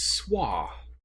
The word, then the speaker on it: Soi: Oh, Grandma says it's pronounced Swa, even though it is S-O-I.